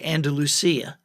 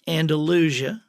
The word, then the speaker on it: Andalusia: I mean, most people don't know how to pronounce Andalusia. If anybody from the desert Southwest generally will say Andalusia, but it's Andalusia.